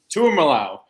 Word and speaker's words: Tuimalau: Pretty sure it's JT Tuimalau. Tuimalau. That's how you say it.